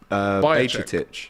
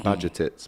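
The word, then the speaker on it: Bajčetić: Ashby says thoughts on Bajcetic. Feisty. Is that how you pronounce it? It's actually Bajcetic. Bajcetic. Bajcetic. I've been a couple of scousers have been saying Bajcetic, but I don't think that's Bajcetic.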